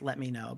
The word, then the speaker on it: Lemino: And just search off, look up Lemino, Lemino. I believe his name's pronounced Let Me Know, but Lemino is how it's spelled.